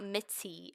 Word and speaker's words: Mitty: So her name is Mitty, not Mitty.